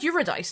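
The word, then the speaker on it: Eurydice: It is spelled uradise like you are a dice.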